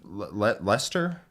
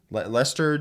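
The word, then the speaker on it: Leicester: been joined by the Lester Lester GT winner yeah I don't know how many silent letters in there which makes me think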